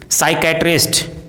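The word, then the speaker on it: psychiatrist: यदि किसी वर्ड में MN साथ में हो तो एन का उच्चारण साइलेंट होता है, जैसे autumn, column, dam, him, condemn, सोलम।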